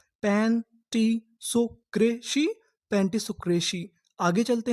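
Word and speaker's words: pantisocracy: अगर आपको आखिरी में सी वाई लिखा मिले तो हम लोग सी वाई को पढ़ते हैं शी। क्या पढ़ते हैं? शी तो हमारी पूरी मीनिंग क्या बनी? पेंसोक्रेसी। पेंटिसोक्रेसी।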